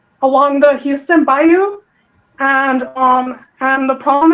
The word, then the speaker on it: bayou: A 20-year-old Jade McKenzie missing for four days found in the ba bao. Is that how you say it? The the bayou.